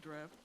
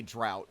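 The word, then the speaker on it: draught: Sounds like a pretty good draft. Oh, hell. I Every time I read that word, I I say drought and that's wrong. It's draft. It's spelled funny.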